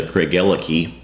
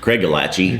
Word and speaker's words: Craigellachie: You have actually, if you go back to the Craigellachie video or Craigellachie, as we would pronounce it.